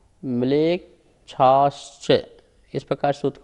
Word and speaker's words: म्लेच्छाश्च: आर्या म्लेच्छाश्च, म्लेच्छाश्च, इस प्रकार सूत्र का उच्चारण हुआ।